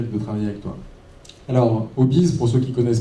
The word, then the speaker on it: Obiz: Alors, Obis, pour ceux qui ne connaissent pas, ça s'écrit OBIZ, mais ça fait référence au Obis, H-O-B-I-E-S.